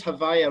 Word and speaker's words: Havaya: But when it says Havaya, remember that's the way the Kabbalists pronounce the four-letter name of God, right? So that's Yud He Vav He, and they just rearrange